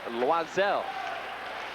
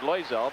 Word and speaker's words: Loiselle: kevin dunedin and claude loiselle formerly known as claude loizel but he's asked that that uh pronunciation be more louis the french pronunciation hampshire along the boards